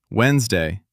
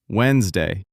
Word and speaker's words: Wednesday: Wednesday. The D is silent. Wednesday.